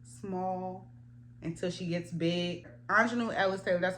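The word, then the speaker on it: Aunjanue Ellis-Taylor: Anjanou Ellis Taylor, that's how you say her name.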